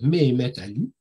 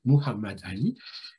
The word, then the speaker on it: Mehmet Ali: C'est-à-dire, je vais prononcer son nom à la mode turque et pas à la mode arabe. Aujourd'hui, on trouve souvent Muhammad Ali. Pourquoi Mehmet Ali? Parce que c'est une formulation turque.